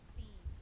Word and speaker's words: Sean: No, the name Sean. I pronounce it as scene. Mm. Cause it's like Sean?